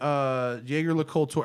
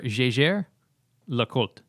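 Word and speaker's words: Jaeger-LeCoultre: This is the JaegerLeCoultre. Am I pronouncing JaegerLeCoultre correctly? No. How do you pronounce it? So it's Sorry. either Jaeger or JaegerLeCoultre.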